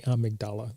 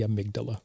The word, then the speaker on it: amygdala: Thank you for correcting my pronunciation, not the amygdala, the amygdala.